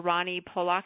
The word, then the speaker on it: Rani Polak: your name correctly - how do you say your name I've been saying dr. Ronnie Pollock is that correct or incorrect er well that's perfect okay okay well I